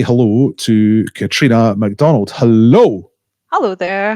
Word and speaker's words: Catriona: first things first um am i pronouncing your name properly katrina is that right that's right yes all right to get